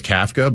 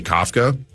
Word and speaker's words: Kafka: I I I thought always thought it was Kfka, but the New Yorkers say Kafka.